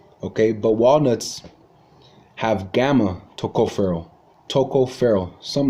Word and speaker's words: tocopherol: called alpha forgive me forgive me if I mispronounce this but it's called mostly it's called alpha tocopherol tocopherol okay but walnuts have gamma tocopherol tocopherol some like that I'm gonna learn how